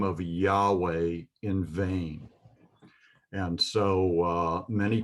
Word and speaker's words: Yahweh: But I'm going to go ahead and pronounce Yahweh. I'm not trying to take it in vain. I'm trying to use it in a very worshipful way, trying to teach you the holy language of the Bible. And so I will go ahead and pronounce it as Yahweh.